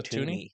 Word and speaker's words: Thuney: I believe the H is silent. I believe It it's is? It's Joe Joe Tooney.